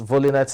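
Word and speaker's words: Volynets: 642626 to Katie volinet yes volinet is the pronunciation of the name avolinatus ranked 113th in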